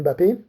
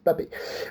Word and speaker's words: Mbappé: Mbappé, ça se lit, ça ne se prononce pas. C'est pas Mbappé, c'est Mbappé. Mbappé, il a eu ce